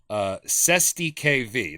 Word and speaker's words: cestui que vie: So we'll start with the definition of Cestui KV. That's how you pronounce it.